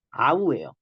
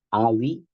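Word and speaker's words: αυ: 얘는 아우예요. 그러니까 이제 딱 쓱 보고 아위, 아위 이게 아닙니다.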